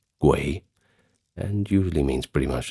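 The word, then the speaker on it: 鬼: In Chinese, it is pronounced guay and usually means pretty much the same thing, but has more of a ghost connotation.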